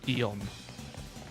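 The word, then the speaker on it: Cobalion: I mean, that's why it's why I pronounce it uh Kalon. So, C O B A L I O N. That's how I pronounce it.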